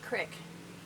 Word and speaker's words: creek: I understand that it's pronounced crick, but it's spelled creek.